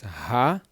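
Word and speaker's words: הדברים: So this word is ha-de-va-rim. Ha-devarim. Okay, ha-devarim. Devarim, the e is a short e sound.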